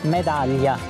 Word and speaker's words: medaglia: Medaglia.